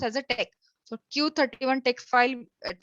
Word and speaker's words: TeX: Already madam has explained that every document we are making, it is having the extension as a text, TEX, but we'll pronounce as a text.